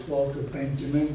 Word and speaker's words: Walter Benjamin: the English-speaking world as Walter Benjamin, but strictly speaking in Germany as Walter Hemming. Benjamin, but I'm going to say Walter Benjamin because that's unfortunately the English way of pronouncing this famous man's name.